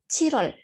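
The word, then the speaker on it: 칠월: Nah, sebenarnya kalau dibaca itu Chilwol karena kalau satu-satu, tapi kan kalau pengucapannya itu agak susah ya kalau Chilwol, Chilwol. Nah, kalau buat orang Korea itu agak susah. Jadi dibacanya itu Chirol, Chirol. Seperti itu.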